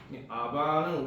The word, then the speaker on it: 아바: 아바는 아바 means the father or daddy is the same exact same word in Korean we call 아바.